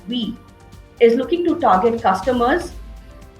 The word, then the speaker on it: Vi: brand called VI, or will be pronounced as We, is looking to target customers and bring them back from rivals Bharti Airtel or Reliance Jio.